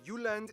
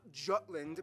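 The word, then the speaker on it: Jylland: we go Denmark is made of the uland not Jutland peninsula that connects to Germany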